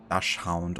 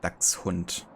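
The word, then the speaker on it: Dachshund: I guess but yeah it's a German name so it's pronounced Dux hunt in Fury but I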